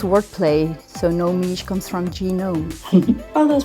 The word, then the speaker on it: Nomige: of your dna and it's work play so no meech comes from genome oh that's brilliant thank you